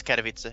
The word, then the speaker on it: Katowice: always butcher it yeah it's more or less Katowice okay alright so pilly